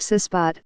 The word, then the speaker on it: CISBOT: It goes by the matter-of-fact name CISBOT, pronounced CISBOT, for cast iron sealing robot.